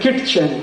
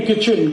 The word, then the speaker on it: kitchen: एक शब्द है किटचेन, KITCHEN, कहते नहीं किचन किचन किचन, फिर KIT क्यों लिख रहे हो? टी साइलेंट है, क्यों लगाया, हटा दो।